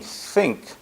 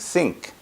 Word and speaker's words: think: up my pronunciation and instead of saying think I would think sink so basically uh and